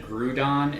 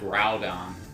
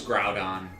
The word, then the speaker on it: Groudon: I always called it Grudon instead of Groudon. I didn't know it was Groudon.